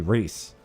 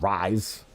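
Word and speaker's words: Rhys: R-H-Y-S should be Reese. Not Rise.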